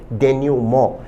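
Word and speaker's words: denouement: प्रश्न शब्द एक बेहतरीन शब्द है जिसका उच्चारण है डेन्यूमो। विद्यार्थी ध्यान दें शब्द का प्रोनाउंसिएशन डेन्यूमंट नहीं है। इस शब्द का सही उच्चारण है डेन्यूमो।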